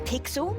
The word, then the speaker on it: Pixel: is not weird guy I'm pixel it's easy to remember because it rhymes with pickle so does I'm Foster